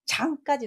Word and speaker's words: 掌: 위에 상자가 장 발음을 하고 있습니다.